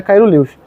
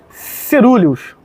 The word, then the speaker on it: caeruleus: Eu falo Caeruleus, galera, mas o certo mesmo não é Caeruleus. Cerúleos, né, a pronúncia é certa, né?